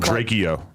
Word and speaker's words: Drakeo: After he died, you were saying his name wrong still. You were calling him Drakeo. I called Draco.